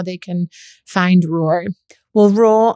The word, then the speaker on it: Roar: Well, Roar, I always have to say is spelled ROAR. Okay. Not like raw food. It's raw like a lion.